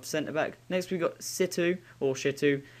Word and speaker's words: Shitu: Next, we've got Shitu. Depending on how you want to pronounce it, but it doesn't have a H.